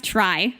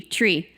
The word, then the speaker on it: trie: which I'm gonna pronounce try and it's usually pronounced try just to distinguish from TR EE tree although it could be